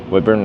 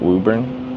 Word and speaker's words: Woodburn: Woodburn, not Wuburn.